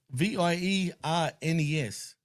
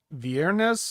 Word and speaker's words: Viernes: How do you pronounce this? Viernes. How would you pronounce that? Viernes.